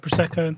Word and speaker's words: Prosecco: Yeah, Prosecco, you're saying it right. Prosecco.